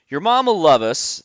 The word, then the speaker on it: Yermomlluvus: your host mike doyle your mom will love us that is the way that you pronounce the name if you're looking at